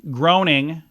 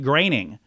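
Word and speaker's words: Groening: you want to say groaning but the Oe uh his name is more like an ay making the correct pronunciation like graining so did I say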